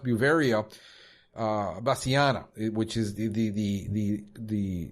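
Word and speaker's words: Beauveria bassiana: biop pesticide is is I think it's pronounced buia uh basana which is the the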